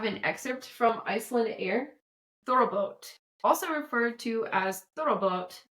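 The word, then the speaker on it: Þorrablót: Thorrablot. Oh, okay. Roll your R too. Thorrablot. I always forget that you roll your R's in Northern European.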